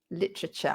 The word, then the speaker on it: literature: vegetable comfortable literature that's another one where we swallow the vowels literature i like literature me